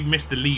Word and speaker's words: Liu: i've read the best way you can do it as a sort of like a foreigner would just be to say lee it would be mr lee or most people are